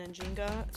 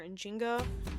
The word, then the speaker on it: Njinga: Most of the sources I saw referred to her as Enzinga and Anjinga. So I may at times call her Enzinga and other times call her Injinga, but just know that it is the same person.